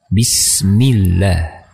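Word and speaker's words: بسم الله: mini seperti bisnis ini benar bisnis tidak dibaca bisnis-bisnis tapi bisnis Bismillah Dengan cara merendahkan rahang mulut bagian bawah dan mengangkat bagian tengah lidah bisnis seperti itu Dian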